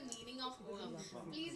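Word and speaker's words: औहाम: इज the meaning of ohm. Please ये मत बताइए कि गूगल कर दो। अच्छा नहीं मैं बताती हूँ। सबसे पहले इट is pronounced as ओहम।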